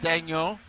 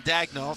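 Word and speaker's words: Daigneault: Well, Herby with the Canadian pronunciation, Daniel. In the US, they call him Dagno.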